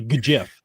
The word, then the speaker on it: GIF: little bit of a history because we didn't have a 2020 GIF event.